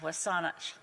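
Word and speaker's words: W̱SÁNEĆ: that my riding name, Saanich Gulf Islands, being a corrupted English pronunciation of Wasanich, the Wasanich Nation of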